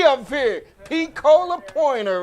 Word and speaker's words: Pecola: Pecola. No, long E.